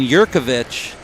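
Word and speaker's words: Jurkovich: And Yurkovich, he says the J is silent.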